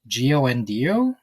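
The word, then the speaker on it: Kiawentiio: Her name, so I believe it starts with a K, but I've listened to interviews and I believe it's pronounced Giondio.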